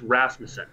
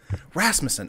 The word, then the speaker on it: Rasmussen: Is it Rasmussen? Everyone else. It's Rasmussen. Rasmussen. Okay. Not like you don't pronounce the vowels at all basically.